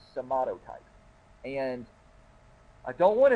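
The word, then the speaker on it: somatotype: in the consideration is your somato type that's how to pronounce it somato type and and I don't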